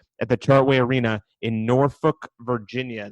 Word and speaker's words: Norfolk: It's a leap year, so we got a February 29th at the Chartway Arena in Norfolk, Virginia. That's how the locals say it, Big Marcel, Norfolk, not Norfolk.